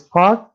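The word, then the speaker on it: Páll: the whole name yes see i'll pronounce it it's a part is with the k sound at the end yeah it's sort of like a double d and l in it it's it's a very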